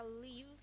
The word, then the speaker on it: leave: Jadi antara leave dan leaf itu berbeda sekali. Leave yang pertama adalah artinya pergi atau meninggalkan, dan pengucapannya di akhir v. Pengucapannya lebih kasar dan lebih keras.